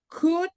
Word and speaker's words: could: In this word, L is silent, and this word, L is also silent. So, could be happy. Please repeat. Could Could.